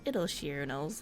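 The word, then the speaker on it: Idyllshire: share i used to read it as idol shire as well but then i was i found out it's actually pronounced it'll sheer and i was like why why is english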